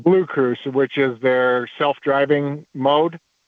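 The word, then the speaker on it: BlueCruise: Your blue cruise is expiring.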